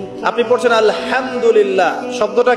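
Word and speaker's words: الحمد لله: আপনি পড়ছেন আলহামদুলিল্লাহ শব্দটা কি আলহামদুলিল্লাহ এই হা এর মাখরাজ কোথায় হায়ের মাখরাজ কোথায়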